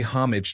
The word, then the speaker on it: homage: I pronounced the H and put the emphasis on the first syllable. It should be a silent H with emphasis on the second syllable.